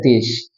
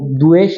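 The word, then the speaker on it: দ্বেষ: में बोलते द्वेष और बांगला में बोलते है देश जो ब हैय साइलेंट हो जाएगा आपको द बकर है तो द्वेश नहीं पढ़ना है देश पढ़ना है ठीक है क्लियर हो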